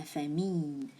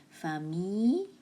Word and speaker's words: famille: Moi, je suis allée à la plage avec ma famille. Famille, the L is silent. It replaces with Y. Famille.